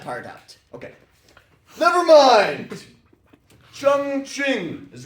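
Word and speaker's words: Chongqing: out okay never mind chong ching is right here apparently it's pronounced Chong King I heard China used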